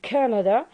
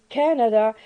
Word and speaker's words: Canada: canada uh we have the word canada in which stress is on the first syllable and this first syllable